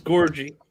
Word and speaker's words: Gorgui: I always mess his name up, but Gorgui Deng. Gorgui? It's Gorgie. Are you sure? Because you don't get Nigerian names correct a lot. Sorry, he's Senegalese. He's Senegalese. So maybe you did. Gorgui Deng. Gorgui Deng.